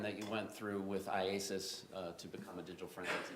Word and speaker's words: IACIS: IASIS. IASIS. All right. I just want to shorten it for today. Yes. All right, so IASIS. Tell us about that program that you went through with IASIS to become a digital forensics examiner.